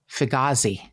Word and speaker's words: Figliuzzi: I spelled it a couple times apparently it's pronounced Figi I'm like that's a lot of letters you're